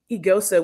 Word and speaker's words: Eghosa: like telling them that technically like the g's kind of silent and the ho sounds like this together you know um and